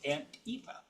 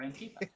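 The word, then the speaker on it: Aunt Oife: and then O-I-F-E, which is pronounced that way, so it's Antifa, or Antifa.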